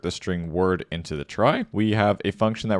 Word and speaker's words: trie: 208 so a try it's pronounced as try as I'm saying it or sometimes called a